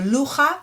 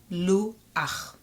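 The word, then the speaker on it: לוח: Okay, so lucha is actually luach.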